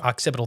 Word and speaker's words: occipital: The rear bones occipital.